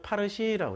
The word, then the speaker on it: 파르시: 자기네들을 나는 이란 사람이야 말할 때 뭐라고 말하냐면 파르시라고 그래.